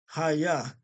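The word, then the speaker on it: היה: They actually have this pronounced right. Hayah.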